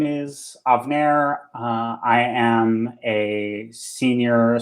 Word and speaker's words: Avner: you say your name avener uh i've actually uh put a pronunciation guide in my uh in my name on here it's avner that's of like avocado narrow like the hair removal product i see it i